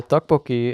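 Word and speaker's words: 떡볶이: here and we haven't had dinner, we just grabbed some tteokbokki. How's my pronunciation?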